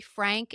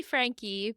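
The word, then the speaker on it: Franke: talking about this Ruby Frank is it Frank is that how you pronounce her name it's technically Frankie but but nobody says that nobody says it correctly but it is technically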